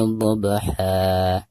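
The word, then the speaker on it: ضبحا: Maka dihukumi mad iwad, dan cara membacanya pertama hilangkan suara tanwinnya, lalu digantikan dengan bacaan mad 2 harokat. Wal-'adiyati dhabha.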